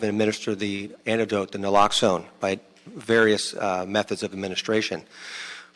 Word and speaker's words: naloxone: uh the drug is fairly nominal it's generic naloxone is that how you pronounce it yes ma'am naloxone the trade name is narcan it's been around